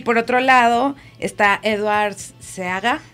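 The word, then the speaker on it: Edward Seaga: por otro lado está edwards se haga no se pronuncia eduard se haga pero entonces michael manley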